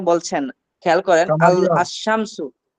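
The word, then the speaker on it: الشمس: আশ-শামসু, আশ-শামসু, শিন কি উচ্চারণ, আলিফ লাম কি উচ্চারণ হয়?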